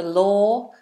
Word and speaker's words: law: l low l the law the official rules that you have to abide by low law low law Get Low don't break the law low o movement l no movement low La all right